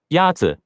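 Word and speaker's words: 鸭子: Yazi is pronounced with a first tone. In Mandarin, there are 4 tones, which are essential to distinguish the meaning of words. The first tone is a high-level tone.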